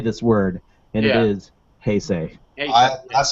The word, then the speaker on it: Heisei: I said, please say this word, and it is Heisei. That's how I've been pronouncing it my whole life, so kudos to me for knowing what the extra was.